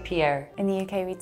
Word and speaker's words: Pierre: Like from the back of your throat, like Pierre.